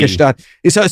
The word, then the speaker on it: Gstaad: You don't pronounce the G. Gstaad.